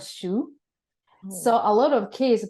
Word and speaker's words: Hsu: Japanese too but uh Japanese people are told to call pronounce or read the kanji as instead of shu so a lot of